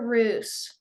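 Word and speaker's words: רוּת: Caleb, Do I pronounce the first one as root or roos? Roos or Root. root. In Israel, they would pronounce it root.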